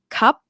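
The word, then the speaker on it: ครับ: The word cup is a dead syllable.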